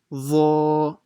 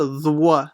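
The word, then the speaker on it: ظ: Okay, so make sure you stretch the ha and the dha only, and try to read the dha full mouth.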